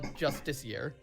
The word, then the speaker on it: Justiciar: There is no Justicar or Justisar. It's all Justiciar is the correct spelling and pronunciation.